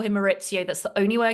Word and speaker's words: Maurizio: Obviously to my love Dorit, but also when she saw Maurizio, and I pronounce it Maurizio just like Ken Dodd does.